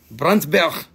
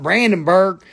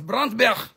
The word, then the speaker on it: Brandberg: Stone of brand bark bronzberg that's how you say it in in Namibia it's not Brandenburg you got all them Brandon Burgers man I need them brand new it's bronzberg like that did you get that